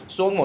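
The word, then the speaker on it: Tsomgo: तो आप देख रहे हैं दोस्तों यहां पे सोंगमो क्या? ता यहां पे साइलेंट रहेगा। ठीक है? सोंगमो।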